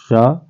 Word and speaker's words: श: सारे लोग बोलते हैं, लेकिन ये होता है श। जहां से चा का उच्चारण होता है इसका, वहीं से इस वाले सा का उच्चारण होता है। तो ये हो गया श, और इसमें मुंह खोल के एकदम मूर्धा से आवाज आती है श, और ये होता है